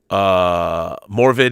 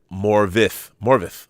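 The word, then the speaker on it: Morfydd: Forgot to mention this morning that the Welsh F is pronounced as a V. So again, Morvid is Morvith. Oh, Morvith.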